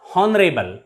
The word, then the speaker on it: honorable: vowel sound for example h o u r here the word r in this word r h is silent so it is pronounced as are not har honest not honest h is also silent here and h e i r air not here honorable not honorable pay attention to the pronunciation of these words in these words h is always silent that's why we use